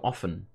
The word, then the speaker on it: often: You learned the other day that often is actually pronounced without the T, so often. Yes and no, it like depends on your accent. I think often is the more Americanized way, because I would say often.